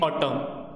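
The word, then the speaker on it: autumn: Number लिखा है जी which letter is silent in ऑटम तले ऑटम रे को लेटरटा साइलेंट अछि एमती भी प्रोनाउंसिएशन जाना पड़ुछि ऑप्शन ए होची एम एन टी आउ ए तले कौन हो एन रो साइलेंट होची। ठीक अछि स्पेलिंग होची ऑटम माने प्रोनाउंसिएशन वाले। ठीक अछि साइलेंट एन रहइबो।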